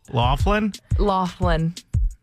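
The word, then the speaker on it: Loughlin: Lori, also known as Aunt Becky, mainly because people don't know how to pronounce her last name properly. I know it. Laughlin.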